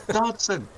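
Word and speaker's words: Dodgson: Do you pronounce it like I do, like with a silent G? Because that's how Nedry says it. Everybody else is like Dodge, son. Dodge. Like he's a We don't. car. We say it with a J sound.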